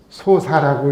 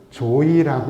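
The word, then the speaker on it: 召史: 그런데 지금 124의 우리 복자분들 그 호칭기도 할 때는 한자로는 이렇게 쓰지만 읽을 때는 조이라고 읽어요. 조이라고 읽어요.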